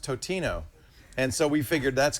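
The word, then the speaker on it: Totino's: We for a while we begged for we begged for Tostino's pizza rolls to do ads, and then I found out it's pronounced Totino, and so we figured that's going to be it, right?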